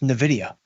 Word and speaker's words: Nvidia: Uh, I think Nvidia, uh, which by the way, if you are new to the show, is pronounced Nvidia.